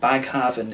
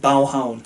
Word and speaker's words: Baghaven: in Copenhagen as well, which is called Baghaven in sort of anglicised Danish, but Baghaven from what I understand in regular Danish pronunciation, if you can call it that.